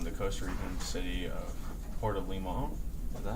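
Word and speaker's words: Puerto Limón: During an earthquake in 1991, the Costa Rican city of Puerto Limon, is that how you say it?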